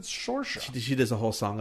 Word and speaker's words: Saoirse: It's Saoirse. Saoirse. Like inertia.